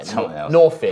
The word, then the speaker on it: Norfir: So for spelling and wikis and shit, it's spelled N-O-R-F. Yeah, Norfir. Huh. It's N-O-R-F-I-R. Yeah, Norfir. F-I-R. I said no fear, but it's Norfir.